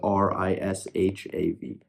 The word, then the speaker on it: Rishav: But the way to pronounce it is R-I-S-H-A-V, Rishav.